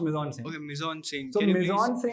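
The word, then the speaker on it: mise-en-scène: just want to ask about this specific it's pronounced Mison say is basically everything that you see in a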